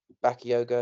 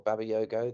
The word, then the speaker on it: Bakayoko: I think PSV, with the players they've got, they've got Bakayoko, I believe it's pronounced, or Babayoko.